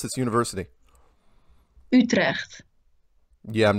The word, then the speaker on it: Utrecht: how do you pronounce this university? Utrecht. Yeah, I'm not gonna be able to do that. You can. Say it one more time. Utrecht. Utle.